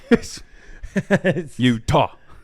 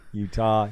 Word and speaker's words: Utah: just pointed it out two syllables Utah Utah ye um so what